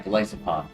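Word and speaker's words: Golisopod: Glo theopod. Yeah, Glyopod. That's it. They gave it to Galysopod instead of Cra.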